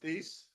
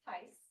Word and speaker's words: Thies: Thies, I know I probably pronounced it wrong, but at least I remembered how to spell it. Well, I'm very impressed about this. Okay. It's Tice. Shy, okay, Yes, it's very German.